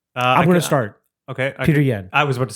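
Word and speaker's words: Petr Yan: Peter Yan. I was about to say... Peter Yan. Easy. How do you say his name actually? Piotr Yan.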